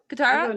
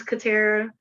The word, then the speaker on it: Katera: um guitar louisa delia qatar okay okay my name is katera um pronounced katera i know qatar is from avatar she stole my name